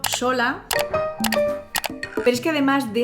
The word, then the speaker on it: Xola: También se mantienen palabras que tienen la letra X pero que siguen sonando como sh. Por ejemplo, sola.